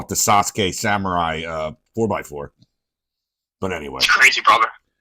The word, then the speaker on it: Sasuke: It's Sasuke, not Suzuki. Yeah, but we Americans say Suzuki, you know. Okay. Well, some of us that are more familiar with the Japanese language know how to actually say it.